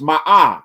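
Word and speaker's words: Maat: And this symbol is pronounced ma and it means the truth.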